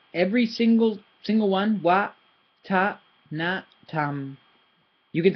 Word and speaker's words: วัฒนธรรม: I've heard wattanatam, wattanatam, wattanatam. It's none of those. It's wattanatam. They're all equally stressed. Okay. You can't stress one more than the other. You pronounce them according to their tones.